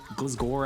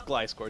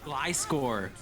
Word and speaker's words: Gliscor: uh glasgow i don't i've been told i've been saying it wrong now a beta oh is it really how do i how am i supposed to say it it's it's glyscor it's a pokemon gly score oh i don't i